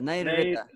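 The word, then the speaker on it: Nairṛta: And the last word, the way you pronounce is Nairita, right? Am I Nairita. correct? There, Nairita. Nairita. Yes. One Okay. ra is Vyanjana, one ra is Swara.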